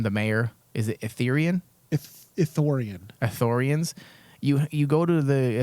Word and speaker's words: Ithorian: Ithorian.